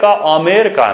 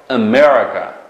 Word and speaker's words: America: U Amerika emas. Diqqat. Mana telaffuz qilamiz. Birinchi tovush nima? Emasmi? Shunami? Ikkinchi tovush nima? Dahmu shunga urg'u tushdi. Shunaqa? America. Tushunalmi? America. Hargiz Amerika emasmi?